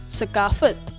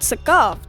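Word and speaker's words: ثقافت: Sakafat. Well, it's not sakaft, it's sakafat, even though there's no vowel between them.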